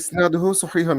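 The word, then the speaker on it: إسناده صحيح: শান্ত হ্যাঁ ভাই, উচ্চারণটা হবে ইসনাদুহু সহিহুন, মানে এই ঠিক আছে।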